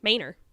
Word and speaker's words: Manor: Manor.